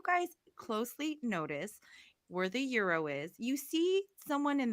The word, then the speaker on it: gyro: say Nashville I'm thinking they're all gonna say gyro because I'm thinking I think I used to pronounce it as gyro too I would be like can I have gyro sandwich but it is Euro I just asked I just asked I said